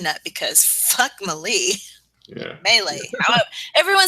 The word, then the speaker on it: melee: Melee. Everyone says it differently, and everyone's gonna yell at me from either side. All 4 of us pronounce it differently. Melee. Yeah. I think the proper way is melee.